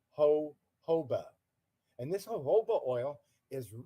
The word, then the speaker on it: jojoba: And the J is silent. So it isn't jojoba, it's jojoba.